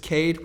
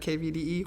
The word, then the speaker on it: KVDE: It's just Cade with a V, so it's KVDE, and it's pronounced Cade, not KVDE or Cavade or anything like that.